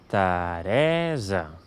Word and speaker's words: Teresa: Per tant, amb aquestes dues paraules, aquest nom de persona es pronunciaria Teresa. Veieu que la síl·laba tònica és la del mig, per tant, aquí sí que diem una /ɛ/ i en canvi la primera E es veu reduïda i queda /ə/. Teresa, sí?